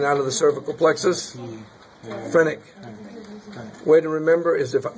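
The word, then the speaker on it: phrenic: is the frenic nerve not the Frantic nerve the frenic nerve so this one is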